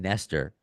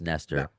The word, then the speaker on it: Nestor: So it's just Nestor. No, it's Nestor. It's a bit different where we play. If we're in Norway, that's a different kind of pronunciation. And if we're like in America, which you said it, Nestor. But Nestor is the way it should be pronounced.